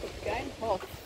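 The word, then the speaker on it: Begijnhof: Oh, suster-suster kerdil yang Begin and Begin Hof, namanya baca Begin Hof. Oke, itu yang saya lakukan terlihat di Amsterdam. Oke, ada Begin Hof juga di sini ternyata. Bacanya aja Begin Hof.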